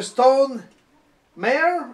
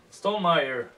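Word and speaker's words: Stonemaier: Stone Meyer. Stone Mare? Ouais. Stone Mare? Meyer. Mare? Meyer. Ah! Le chum, mon beau-père, il s'appelle Meyer, puis c'est comme ça se Le prononce.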